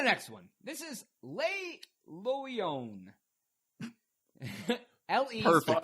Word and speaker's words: Loyon: This is Le Loyon. L-E. Perfect pronunciation.